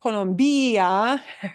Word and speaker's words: Colombia: And it's not Colombia, right? It's Colombia. And the bia is all pronounced as one vowel, but ends in a vowel. And what we punch is second to the last.